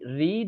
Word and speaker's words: read: এখন এই রিড এর পাস্ট পার্টিসিপল ফর্ম হচ্ছে একই রকম। রে এরকম হয়।